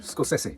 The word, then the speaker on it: Scorsese: yeah Ed machine maker says it's scess scess scosi the emphasis on each but if you say